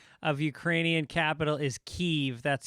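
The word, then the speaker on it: Kyiv: said the correct pronunciation of ukrainian capital is kiev that's how ukrainians pronounce it i know i think we we might have said kiev by accident i always say kiev so because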